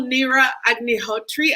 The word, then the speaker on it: Neera Agnihotri: And then next we have, and I'm going to be adding her now, we have the phenomenal Neera Agnihotri. I hope I'm pronouncing that correctly.